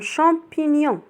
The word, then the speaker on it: champignon: C avec H se prononce ch. Ch avec on se prononce champ comme un champignon.